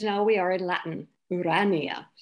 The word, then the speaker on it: Urania: we are in latin urania second accent on the second syllable where irania leads we